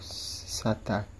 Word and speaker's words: SATA: So this kind of thing is called SATA connector, like SATA connection. Okay, the SATA is spelled SATA, SATA.